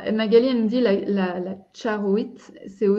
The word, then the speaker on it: charoite: Comment tu prononces ça? Charoite. Voilà. Moi, c'est vraiment bien prononcé. Oui, enfin. Non, mais c'est ça. Avec toutes les réserves. Non, mais parce qu'en français, on dit charoite, mais en fait, moi, c'est charoite avec le